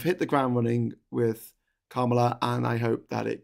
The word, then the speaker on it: Kamala: how you pronounce the name, and it was like, oh, you've got to pronounce it like comma, like Kamala.